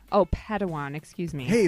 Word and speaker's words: Padawan: assigned a pad one to this bold Jedi pronounced Padawan Oh Padawan excuse me hey it's getting late I think